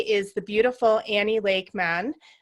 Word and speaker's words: Mahon: Man, it's like mayonnaise. Oh, it's like man.